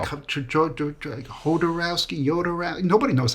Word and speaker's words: Jodorowsky: let's go make josi's Dune okay working title jarowski is doing that's what it's about could never come up with a better title and that was tough because a lot of people can't say the name jarowski really so oh yeah people just like hodorowski